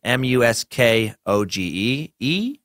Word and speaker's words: Muskogee: It's Muskogee.